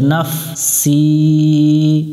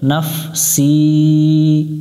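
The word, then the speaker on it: نَفْسِي: না মিলবে ফায়ের সাথে নাফ, সি, এটা একটু শীষ দিয়ে পড়বো। এখানে উপরে পাতা চিহ্ন আছে, এই পাতা চিহ্নটা যেখানে আমরা পাবো ওখানে শীষ দিয়ে পড়বো। জেরের বামে ইয়া সাকিন আছে, এক আলিফ টানতে হবে, এটা এক আলিফ মাদ।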